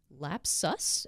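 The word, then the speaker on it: Lapsus$: is from this comes from The Hacker News lap sus is that what it's pronounced yeah it's us okay uh two lapses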